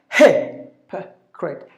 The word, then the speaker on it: hypocrite: So hypocrite. He should be given more volume. So because that's the stressed syllable.